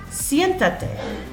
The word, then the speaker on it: siéntate: And then I attach it to the end, siéntate. I count 1, 2, 3 syllables back. Accent is over the E, okay, the strong vowel.